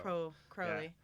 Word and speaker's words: Crowley: Like if someone had a name like that, it's pronounced like Crow. Crow Crowley.